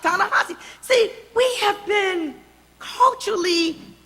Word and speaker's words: Ta-Nehisi: Oh, no, that's Ta-Nehisi. Well, no, it's pronounced Ta-Nehisi.